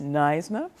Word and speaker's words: NYSNA: Is that how you pronounce it? Yes. NYSNA.